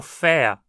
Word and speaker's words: fer: Essa preposição é pronunciada quase sempre átona, portanto soando como fa, com a típica pronúncia de um ER átono. Se pronunciada forte, soaria como fea, mas eu realmente não